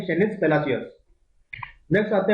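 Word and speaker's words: Palacios: तो इस जीता कौन है आपका, निकारागुआ कंट्री की शेनिस पेलाकियोस, ठीक है, फिर वही प्रोनाउंसिएशन, शेनिस पेलासियोस निकारागुआ की है, ठीक है, एल साल्वाडोर में ये हुआ था।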